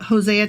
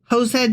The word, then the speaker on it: Hosea: God damn it, I almost said his name wrong again. Yes, that was indeed Hosea chapter 1. And we will be back tomorrow with Jose chapter 2 or Hosea chapter 2.